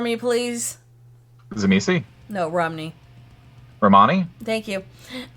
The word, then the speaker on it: Romani: ni, Now, put the first two together. Ro. Ma. Roma, Now, ni. ni, Now, put all three of them together. Romani.